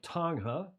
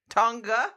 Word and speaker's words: Tonga: Tonga? No G. Tonga. It's a Tonga? soft G. Yeah. Oh, Tonga. We got to get that right.